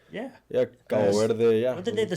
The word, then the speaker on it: Cabo Verde: But another thing to mention is, I think the MVPs of the tournament, how do you say, Cape Verde? Oh, what are they? Yeah, Cabo Verde.